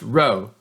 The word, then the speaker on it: rho: are stated like this this Greek letter here is not P it's pronounced row row represents the population correlation coefficient so when rho equals zero that means there's no correlation but if rho doesn't equal zero that